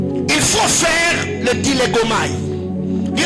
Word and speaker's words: dilégomai: Il faut faire le dilégomai.